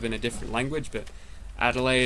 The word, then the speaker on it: Adelaide: a different language but a delay is how you pronounce it yeah we have we have a city in Australia code Adelaide just take out the D and a delay there